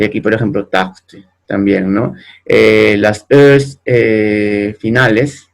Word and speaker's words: tarte: Y aquí, por ejemplo, tarte también, ¿no? Las es finales, ¿no? Las es a final de palabra nunca se van a pronunciar.